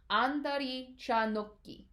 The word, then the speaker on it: andari cha nokki: All right, there isn't quite a T in that no sound. It's actually an H. However, because the next syllable starts with a G, you stop the syllable short, and instead of saying no, right, with that no sound at the end, you actually add a little bit of a stop, right? So it's no, right? Andari cha nokki.